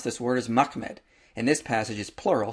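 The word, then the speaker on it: מחמד: The way you pronounce this word is Mahmed.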